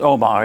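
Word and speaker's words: Omagh: In Northern Ireland with its Omar, is that how you pronounce it? Yep. Omar.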